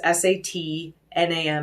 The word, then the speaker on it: Sat Nam: i like to use is very simple it's sat nam it's s-a-t-n-a-m it looks like satnam but it's pronounced satnam and loosely translated it basically means